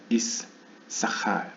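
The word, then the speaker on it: יששכר: 그때에 이사갈의 탄생이 언급되는 첫 번째 구절이 읽혀지는 때가 되면 이제 이사갈이라고 발음하지 않고 아마도 이사칼 이런 식으로 정확히 씬 2개를 언급한다는 것이죠.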